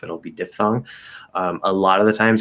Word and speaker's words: diphthong: good question fully enunciated it's supposed to be pronounced diphthong ph is supposed to be an f sound like photo or philosophy uh however the incorrect